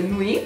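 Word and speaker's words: Nuit: E poi altro smalto che ho usato molto davvero molto, specialmente in autunno, inverno, è il Nui, questo lo so pronunciare in francese, Nui.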